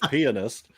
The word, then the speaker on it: pianist: Three three syllables pianist uh was um